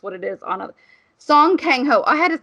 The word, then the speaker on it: Song Kang-ho: Korean, because that's what it is on a Song Kang-ho.